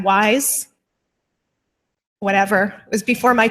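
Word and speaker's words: WIHS: inter agency HIV study has a terrible acronym we pronounce that wise whatever it was before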